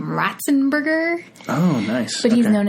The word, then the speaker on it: Ratzenberger: His name is John, and I believe he pronounced his last name Ratzenberger.